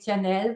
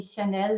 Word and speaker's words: Jeannelle: I know in the American or English-speaking world we say Jeannelle with a J, but it is actually Chanel, like the French fashion designer.